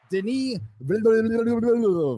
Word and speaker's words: Denis: MauLer, Denis will be directing. That's the proper pronunciation, by the way.